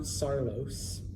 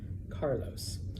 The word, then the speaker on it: Carlos: So for example, the name Carlos, all right? It's not Sarlos, all right? Carlos.